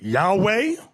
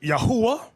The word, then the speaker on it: Yahweh: Now, depending on your form of Hebrew, you have some people pronounce it Yahweh. Another group pronounce it Yahuwah. We were taught Yahweh.